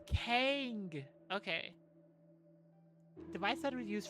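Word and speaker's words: cangue: Kong, how do you pronounce that? Kongu Kang. It's a type of restraint used in Asia. Okay. Uh Wikipedia, can you tell me how? Oh, it's Kang.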